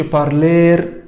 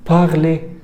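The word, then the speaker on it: parler: محاضره كانت بتتنطق ايه فما تقولش بارلير بارلير لا باغلي باغلي بارل يتحدث طيب اول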